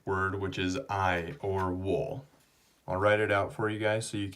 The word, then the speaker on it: 我: okay and just to remind you this is pronounced wool and it means I okay now the next